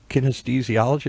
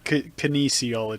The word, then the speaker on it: kinesiology: said well you know when I studied kinesthesiology is that the correct way to say Kinesiology Kinesiology okay when I studied Kinesiology